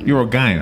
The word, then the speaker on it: urogyne: Urogyne, hard G.